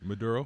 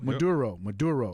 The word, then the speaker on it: Maduro: Maduro. Maduro.